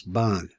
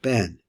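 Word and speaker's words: בן: Now the Ashkenaz pronounce this Ban, but since I learned this from Sfardim, they pronounce it Ben.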